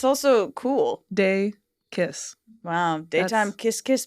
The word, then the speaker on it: Dacus: my God yeah do is it day kiss yeah it's day kiss yeah like daytime kiss kiss day Lucy daytime kiss kiss a little bit it helps right that it's also cool day kiss wow wow daytime kiss